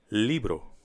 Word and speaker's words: libro: Esto ES un Libro you might encounter some difficulty with pronouncing the Spanish R especially after the letter b as in Libro the Spanish R is certainly stronger than the English r so I recommend exaggerating it at the beginning let's practice Libro Libro